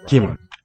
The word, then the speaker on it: 김: 김, So that's the plain letter G, G sound. It'll be lightly aspirated word initially, like this. 김, So it sounds like a K more in this position. If it's between two vowels, it'll be more of a G voice G sound.